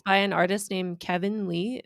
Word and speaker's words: KVNLEE: And it's Ooh, by an artist named Kevin Lee. It's spelled KVNLEE, all one word.